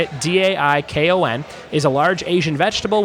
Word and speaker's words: daikon: to the arts Culinary Arts site number six daikon I think that's how you say it dai Kon is a large Asian vegetable with crunchy flesh